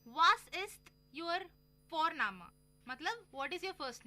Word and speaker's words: Vorname: और जर्मन में हम जिस तरह से लिखते हैं, लिखना और प्रोनाउंसिएशन अलग होता है, तो इसलिए तुम सी साई में कंफ्यूज हो जाते हो, और हम यहाँ पे फोरनामा प्रोनाउंस करते हैं बट लिखते हैं उसको VORNAME। ओके, तो वो हम इंग्लिश के अनुसार प्रोनाउंस करेंगे तो वो बनेगा वॉरनेम, बट नो, इट्स फोरनामा।